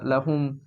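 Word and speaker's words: لهم: তো এবং লাম যখন হচ্ছে কোনো একটা প্রোনাউনের সাথে যুক্ত হবে, ঠিক আছে, তখন কিন্তু লামটা লা হিসেবে উচ্চারণ হবে। যেমন এখানে লাকুম হয়েছে না, এখানে লা হিসেবে উচ্চারণ হচ্ছে না। শুধু প্রোনাউনের ক্ষেত্রে লা হিসেবে উচ্চারণ হবে। যেমন লাহুম বা লাহা।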